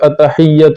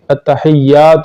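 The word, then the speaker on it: التحيات: الاعلیٰ۔ التحیات للہ والصلوات، بعض لوگ جو ہے التحیات للہ پڑھتے ہیں، یہ غلط ہے، یا کے بعد الف آتا ہے تو یا کو ذرا اٹھانا چاہیے، التحیات للہ والصلوات والطیبات السلام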